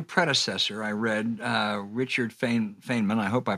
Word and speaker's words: Feynman: and do you agree yeah it's Feynman how he pronounced it and what he actually